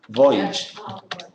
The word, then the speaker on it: voyage: is also important right Voyage it come from French voage but it's pronounced English Okay voyage voyage and